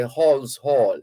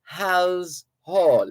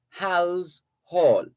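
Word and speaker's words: Halse Hall: travel to hal's hall we have a tendency in jamaica to say hall's hall it's not halls hall it's hal's hall h a l s e hal's hall so the the indians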